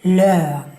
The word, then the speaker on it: lön: And don't mix this up with lån. That means loan. So here the pronunciation is very important. If you want to say salary, then you need to say lön.